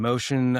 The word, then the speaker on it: mōcean: And Motion uh is spelled m o c e a n. So, it's ocean with an m in front of it.